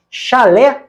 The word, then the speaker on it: chalé: Chalé, oxítona, é um tipo de cabana.